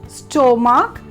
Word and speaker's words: stomach: Mainly how you will pronounce it as stomach. Why? Because of its spelling. That is S-T-O, sto, and mark, M-A-K. No, my dear friends, it will be stomach. S-T-U-H. Stomach. M-U-H-K. Muck. Stomach.